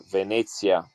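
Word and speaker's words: Venezia: Venetsia.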